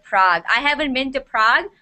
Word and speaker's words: Prague: Budapest looks like uh PL city Prague it's pronounced Prague Prague Prague everybody knows where Prague is yes Prague